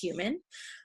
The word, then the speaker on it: HVMN: One of my favorite is one put on by a company called Human. And that's spelled HVMN, if anyone is interested.